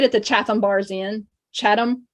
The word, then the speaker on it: Chatham: Chatham, they say it Chatham.